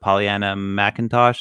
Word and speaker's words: Pollyanna McIntosh: know how to say her name is it pollyanna mcintosh is that correct yeah she's from walking dead